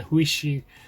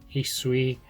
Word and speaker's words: Hisui: For one, you see the game, you're told it takes place in the Huishi, and I'm pronouncing it wrong, Hisui region, which is ancient Shino, which Shino region is where Diamond and Pearl takes place.